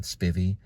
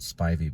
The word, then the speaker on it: Spivey: name they'll say um Spivy and I just tell them that's right when it's really we pronounce it Spivey because of the ey but I have a